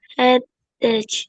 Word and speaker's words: headache: I have a bad headache. Headache headache. He bacanya enggak ada bunyi c-nya. He ch-nya bunyinya k.